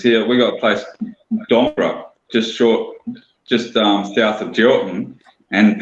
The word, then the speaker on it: Dongara: We got a place, Dongra, just south of Geraldton, and people call it Dongara. And it's like, no, it's Dongra.